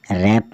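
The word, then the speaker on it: wrap: sword surd मतलब तलवार डब्लू आर ए पी रैप मतलब ड ढकना डब्ल्यू आर ए टी एच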